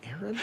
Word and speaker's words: Aaron: first time I said a Aon because it's pronounced Aaron you done messed up a Aon oh a